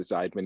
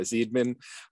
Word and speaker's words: Zeidman: I checked in on Jess's last name pronunciation because I'm a Weiner, not a Weiner. So she's a Zeidman, not a Zeidman.